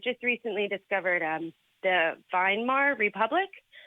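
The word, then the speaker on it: Weimar: recently discovered um the vinar Republic v m a r are you familiar with them yeah it's actually spelled with a W it's pronounced as a v in German that's what I meant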